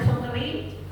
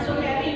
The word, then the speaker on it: Sukri: Kalau Bapak namanya Sukri, iya, tulisannya SOKERI Bu. Sukri. Iya, bacanya Sukri, jangan Sukeri Bu. Sukri, ya kan ada baca itu kan ada yang dibaca ada yang dibaca nah ini bacanya Sukri ya.